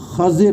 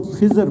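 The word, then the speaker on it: خَضِر: میں ذکر کرتے ہیں، جس کا صحیح تلفظ خضر ہے، خا کی زبر کے ساتھ اور ضاد کی زیر کے ساتھ۔ ہمارے ہاں غلطی سے لوگ خضر پڑھتے ہیں، ان کا جو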